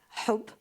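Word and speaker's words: حب: In Arabic, the word love means, it's pronounced HB, hub, and harb, war, it's actually HRB.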